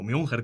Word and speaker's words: München: Mucho se dice de Múnich, o München, como lo pronuncian ellos, ¿no?